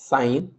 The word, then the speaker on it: sin: सो साइन becomes, it's called as sine, but it's written as sin. Please do not pronounce it as sin.